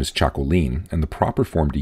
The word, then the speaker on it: Txakolin: instead the route form of this name is Chaco lean and the proper form to use when referring